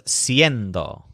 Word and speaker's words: siendo: ser the word was siendo but here the word is a Sein though based on hacer instead of ser in both cases the stresses on end siendo and haciendo for example to say